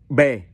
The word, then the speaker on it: ba: but in vietnamese is bae bae look at the last one all right b a in vietnamese is bae ah so it is pronounced ba ba means number three or